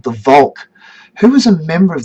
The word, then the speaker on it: Volk: Who was a member of the nation and who was outside the Volk, outside the nation, and became quite racist in this idea. That word Volk is a little bit like the word folk.